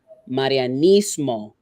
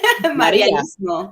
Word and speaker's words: Marianismo: Roll your R's, right? So Marianismo. Break it down again. Just Marianismo. Yeah. Marianismo. Yeah. Think of Maria.